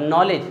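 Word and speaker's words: knowledge: अब नॉलेज, नॉलेज किससे start? अब पढ़ते हम कहाँ से? एन से, के साइलेंट।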